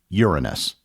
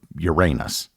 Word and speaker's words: Uranus: is the seventh planet in the solar system Uranus or Uranus Uranus is unlike any other planet in the